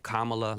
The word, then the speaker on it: Kamala: and get that right kamla like K La let's do that together Kama Kama like you know the punctuation mark K La that's real easy right